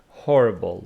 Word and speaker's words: horrible: see what they are horrible with the first word okay it says that the stress is on the first syllable horrible we have horrible